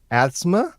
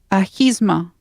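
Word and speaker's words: Ahimsa: Supergirl had their 4th episode of the 4th season called Asthma, I think. Was it Asthma? Help me out with the pronunciation there, Michelle. Ahisma.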